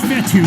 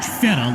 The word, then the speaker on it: Fetu: that'll be incomplete so coach fethu spelled fetu for the longest time i was pronouncing it coach fetta like feta cheese so let's just say